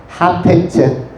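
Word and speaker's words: חפץ: 하페츠. 우리 은연면 쪽에 가다 보면 하페리가 나옵니다. 동두천 쪽으로 가다 보면 하페리. 그 발음과 비슷한 하페츠가 있는데, 이 하페츠가 뭐냐면 기뻐하다.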